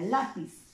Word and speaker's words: lápiz: Otro caso sería, por ejemplo, la palabra lápiz. Termina en Z y lleva la mayor intensidad acá, pues, ¿no? En la penúltima sílaba, ¿no?